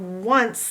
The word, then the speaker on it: once: But in the word once, the C is making the S sound, and you cannot hear the E. So the O is strange, and the E is strange.